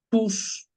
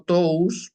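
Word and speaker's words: τούς: el femenino primera declinación tus decimos tus y no Tous Porque si recordamos desde primer año este dictongo se pronuncia u la omicron y la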